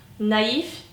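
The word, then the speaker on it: naïf: mayte gördüğümüz i var Üzerinde iki tane noktası olan ona iye baskı yaparak okuyoruz Naif naiv böyle bir F ve v ö değişimi oluyor öbür grubumuza geçelim öbür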